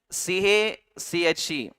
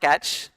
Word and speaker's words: cache: C A C H E. This is this has so many pronunciations. It varies from person to person. It's not catch. It is it is just like cache.